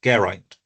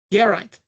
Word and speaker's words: Geraint: Emphasize the second syllable, Geraint. Geraint.